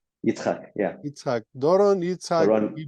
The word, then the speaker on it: Yitzchak: I'm afraid to pronounce the second name. Is it Yitzchak? Yitzchak, yeah.